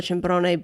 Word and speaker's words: Cimbrone: Cimbrone.